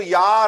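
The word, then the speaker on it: Jahr: एक चीज याद रखना आर जब सेंटेंस के लास्ट में आ जाए या इ आर सेंटेंस के लास्ट में आ जाए तो आर प्रोनाउंस नहीं होता है तो इसको या र पढ़ेंगे पढ़ेंगे या ऐसे लगा अ बोल रहे हो रा बोल ही नहीं रहे हम लोग दास या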